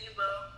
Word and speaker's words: Yubo: It's Yubo. Ebo? Yubo. Yubo. What the heck? Yubo. I've been calling it Yobo this entire time.